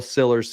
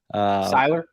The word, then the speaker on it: Sillers: We look like Furman fans, even though I'm going Will Sillers, Central Arkansas here. Siler? Yeah. Well, if you want to say it wrong.